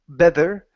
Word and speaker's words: better: Okay, now Better. when you pronounce this, make sure that your tongue does not touch your teeth. So you don't want to say better, better.